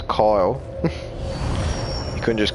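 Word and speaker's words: X Æ A-12: he called his kid ex a a twelve which is supposed to be pronounced as coil I couldn't just call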